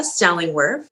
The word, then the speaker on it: Stellingwerff: life so our special guest today is deborah stellingworth did i pronounce that correctly exactly perfectly perfect and deborah